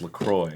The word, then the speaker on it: LaCroix: On their website, they say it's pronounced LaCroix.